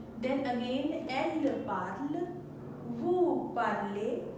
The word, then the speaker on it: parlez: If you are using elle, then again elle parle, vous parlez, though there is z, but it is not pronunciation of z.